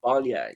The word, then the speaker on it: Baile: My pronunciation is terrible, especially when it comes to Irish. First word, Balia.